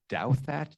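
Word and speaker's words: Douthat: I don't know how to pronounce his name. Do that. Doubt that. Um who's um one of the few voices on the New York Times editorial page that takes a more conservative view on things. And he's um a believing and observant Catholic. Um his name Ross Douat. D O U T H A T. What interesting that you can actually mispronounce the name is doubt that because he he he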